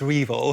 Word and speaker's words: REvil: Is that, or is it Revel? I think it's pronounced REvil.